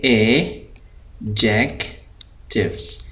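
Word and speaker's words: adjective: है आप ये देखिए यहां पर जो डी है यह डी है आपका साइलेंट यानी इस डी को पढ़ते हुए आवाज नहीं आएगी इसको हम पढ़ेंगे नहीं लिखा जाएगा पढ़ेंगे नहीं तो यहां प आप देख रहे हैं इसको हम पढ़ेंगे एजेक टिव एडजेक्टिव्स इसको हम पढ़ते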